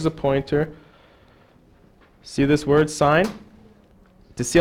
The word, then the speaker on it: sin: n cos t n the first one is pronounced sign this is apparently an abbreviation they just took the e off okay so the sine